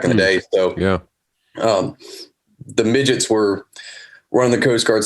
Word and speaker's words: Midgette: And then, just kind of give me a little overview, like who is, and pronounce your last name for everyone, please. Last name is Midgette. Midgette.